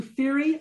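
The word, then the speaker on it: Fiere: from the earliest to fiery i'm pronouncing it her way bantam and the extraordinary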